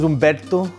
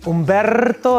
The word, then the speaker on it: Humberto: But you don't roll your R's either when you say Humberto, right? Humberto, that's too much, right?